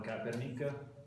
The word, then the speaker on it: Kaepernick: E come avete capito il nostro ospite speciale ha giocato con Colin Kaepernick, pronuncia corretta, Yeah.